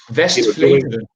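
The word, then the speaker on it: Westvleteren: You mentioned that given their history with Vest, I'm going to mispronounce it, but Westy 12, but the Vestvleteren. Vestvleteren. I'm sorry, one more time. Vestvleteren. Thank you. Yeah, Gesundheit. You can see why Americans say Westy 12.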